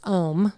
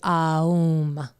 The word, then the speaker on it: Aum: The ancients used to pronounce Om, that's a commercialized version. It was actually Aum.